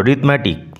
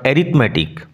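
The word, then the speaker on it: 'rithmetic: Samuel was teaching রিথমেটিক A silent থাকবে উচ্চারণ লক্ষ্য করো রিথমেটিক নট এরিথমেটিক স্যামুয়েল পাটিগণিত পড়াচ্ছিলেন টিচ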